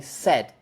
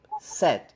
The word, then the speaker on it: said: say the other word the consonant at the end is kind of separated okay listen again said set okay said you see when I say said it's just it's still just a little sound at the end but it happens immediately said like that said in fact I don't even need it I can just do this said that's all I have